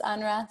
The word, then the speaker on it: UNRWA: No one ever knows how to pronounce it. I've heard UNRWA, UNRWA, UNRWA, UNRWA. It's just UNRWA for anyone listening.